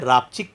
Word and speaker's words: रापचिक: और हमने इसका एक वर्जन रखा हुआ है रापचिक करके ही, जो क्योंकि प्रोनाउंसिएशन में आप देखिए कई लोग कंफ्यूज होता है, रापचिक है, चिक चिक, हाँ। चिक है।